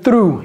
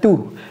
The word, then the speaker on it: through: Il n'a pas dit through, il a dit to.